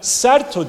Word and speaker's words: Serto: Bu da Serto diye okunur. Aynı harf 22 artı 11 sesli toplam 33 harften oluşuyor.